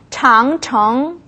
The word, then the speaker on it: 长城: 자, 장이라고 발음이 될 때는요, 길다라는 뜻을 가지고 있을 때 장이라고 발음이 됩니다. 그래서 장청 하게 되면 긴 성, 뭐가 떠오르세요?